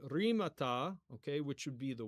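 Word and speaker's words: ῥήματα: But yeah, anyways, so if we're pronouncing using modern translation, which I'm trying to get in the habit of doing, it would be rimata, okay, which would be the words, okay, rimata ecclesiastu, okay, ecclesiastu, which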